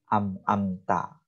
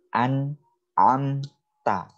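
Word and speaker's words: أنعمت: Jadi membacanya amta, ya. Yang betul adalah an'amta. Jadi jelas, ya. ketemu huruf apa ini? Nun sukun ketemu huruf ain. Amta. Jadi huruf nunnya itu sangat jelas.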